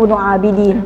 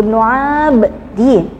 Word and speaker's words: Ibnu Abdin: Ibnu Abdin kalau orang bacanya biasanya Ibnu Abidin, padahal aslinya Ibnu Abdin.